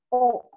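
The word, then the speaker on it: を: kalau misalnya Minahasa ngeliat huruf wo dalam satu kalimat dia pasti partikel dan dibacanya o bukan lagi bu tapi kalau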